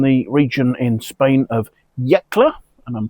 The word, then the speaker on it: Yecla: So, this is Castano from the region in Spain of Yakla, and I'm pronouncing this correctly this time, and I've looked